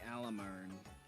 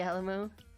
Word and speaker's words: Alamo: The Alamar. No, that's not how you pronounce it. The what now? Alamar? Alamone.